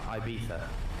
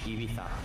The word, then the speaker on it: Ibiza: Yeah, it's Ibiza. Oh. Or if you want to sound Spanish, Ibiza.